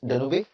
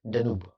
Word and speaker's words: Danube: Some people pronounce it as Danube, but it's pronounced as Danube, friends.